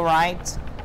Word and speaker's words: write: Can you write? Write, pas write, d'accord? Right. Okay, ça s'écrit comme ça. Write, mais vous ne prononcez pas le W, c'est pas write? Nope. Write. It's silent.